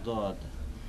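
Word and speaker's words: ضاد: দও নয় জও নয়, তবে মাঝামাঝি, জয়ের কাছাকাছি, মাঝামাঝি, দয়ের কাছাকাছি নয় বরং, বা দালের কাছাকাছি নয় বরং জয়ের কাছাকাছি।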